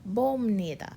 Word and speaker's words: 봅니다: 보 plus 피입니다, it becomes 봅니다, 봅니다. And that pronunciation is meant to be smooth. That's why I've written it out right there. 봅니다. It's kind of like an M sound.